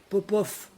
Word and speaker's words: Popov: Ben, Popov s'écrit avec un V en russe. Parce que la femme de Popov s'appelle Popova. Ah, on entend un V, ben ils écrivent un V.